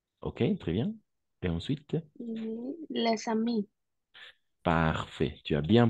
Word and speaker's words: les amis: Alors, ici, on va prononcer les ballons et les amis avec la liaison, bien évidemment. Les amis et les ballons. D'accord? Parce que le S, on ne prononce pas.